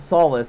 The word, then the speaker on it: Solace: Solace is actually supposed to be pronounced Solis. But there's also a word called solace, S-O-L-A-C-E, which is, it still has a good meaning. So solis is the Latin pronunciation and the Latin term of sun. That's why sometimes you'll see just sol, S-O-L. And that means sun in a lot of other languages and stuff. It's solis in Latin, sun. I pronounce it solace because I don't like solis.